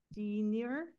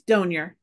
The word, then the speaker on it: Donier: Shannon Denier, I know I just butchered that one. Sorry about it. From TAC, are you online? I am. Terrific. Tell me your last name. It's Donier.